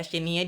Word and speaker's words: Xenia: Untuk Xenia tuh X, yang ada X-nya tuh, X Xenia. Ya, Xenia dibacanya, itu 1/3.